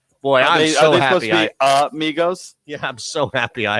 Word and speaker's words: Migos: This is Migos or Migos. I don't even know how to say his name. No, Migos. No, there are actually three of them, but yes, Migos.